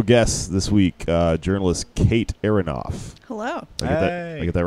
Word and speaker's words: Aronoff: And special guest this week, journalist Kate Aronoff. Hello. I get that right? That's right. Cool. Aronoff.